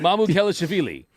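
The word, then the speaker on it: Mamukelashvili: Mamu Kelishvili. Mamu Kelishvili. Like I was saying, how are we doing? Mamu Kelishvili.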